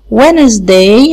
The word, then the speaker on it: Wednesday: عندنا السبت Saturday, Sunday, Monday, Tuesday, Wednesday. عندنا D هنا مش بتتنطق، أي D بعدها N مش بنطقها.